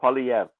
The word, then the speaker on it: Poilievre: Poilievre. Poilievre. French name, Poilievre. There's a slight R sound on the end.